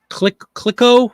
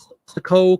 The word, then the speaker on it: Clicquot: Clicquot. We've had this brand before. It's popular. CLICQUOT Club Ginger Ale. Sold several of these ads. Clicquot Club. I think the T is silent.